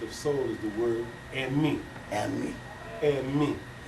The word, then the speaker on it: emi: The closest thing that we have found that is referred to as the concept of soul is the word "emi." And me. Emi. How you spell that?